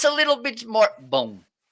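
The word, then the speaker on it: bom: question a survival Mike we don't finish our words with n okay if it's to sound like that it's with m okay uh this okay in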